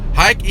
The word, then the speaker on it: Hike: and anywhere around, and everyone in the whole wide world pronounces it Hike, like take a hike.